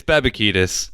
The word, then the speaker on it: Babakitis: It's Babakitis. So now that we got that, Babakitis.